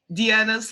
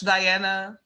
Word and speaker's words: Diana: sense myy anyway hi I'm Deana Diana however you want to call me and I am a